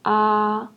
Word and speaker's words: a: The letter A is pronounced as ah, as father, ah, and the second one is o.